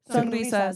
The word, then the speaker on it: Sonrizas: Sonrisas. Okay, to roll it. What's the worst Sunrises.